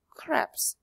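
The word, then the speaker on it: crêpes: but this is a French word so we pronounce it as craps now Elena chica - yeah - far when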